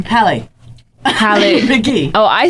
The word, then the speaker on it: McGee: McGee. Oh, I said Haley. No, Gee. Like Ma, and then Gee.